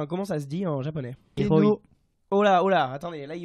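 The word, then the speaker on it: 天皇: Comment se prononce empereur? Enfin, comment ça se dit en japonais? Tenno. Oh là, attendez, là, il y a eu deux réponses à la fois. Toi, t'as dit? Tenno.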